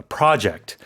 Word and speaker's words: project: to work on, which is a slightly different meaning here, but in terms of pronunciation, the stress is on the first syllable in that case.